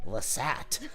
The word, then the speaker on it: Lasat: Lasat, that rhymes with ISAT, which stands for In Stars and Time.